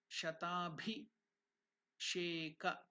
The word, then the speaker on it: Shatabhisheka: Here it is Bhi. It's not B. Pronunciation is Bhi. Shatabhi Sheka. Shatabhi Sheka. Om Shatabhisheka Om Phat Swaha.